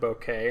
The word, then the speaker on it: bokeh: bokeh or Bok and she pronounces it bokeh and she actually spelled